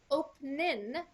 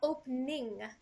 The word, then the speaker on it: opening: we say open in we don't pronounce the g at the end so it's not opening